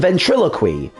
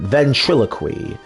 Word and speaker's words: ventriloquy: animal taming, magic, and ventriloquy. I think I said that right. Ventriloquy. Yeah, because ventriloquism. Yeah. So, that that should be the right way to pronounce it.